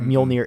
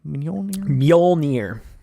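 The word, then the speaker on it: Mjölnir: you say it manila mjolnir meaning old yeah the hammer pretend to pretend the y is or the j is a y mjolnir no i can't do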